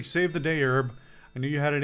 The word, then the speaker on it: Herb: I did say at the beginning it's Herb, but I'm not pronouncing that H that strong either.